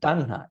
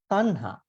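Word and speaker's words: taṇhā: It is not tanha, it is tanha. See, you can see over here at this point. This is just T. There's no below T. So we pronounce it tanha.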